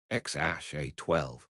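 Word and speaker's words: X Æ A-12: They had three children together, Xeromoman 12, pronounced Xash A12, Exad Dark Cider, and Techno Mechanicus.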